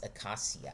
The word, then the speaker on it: acacia: Accassia trees and ants. Aassia. That's a Portuguese pronunciation.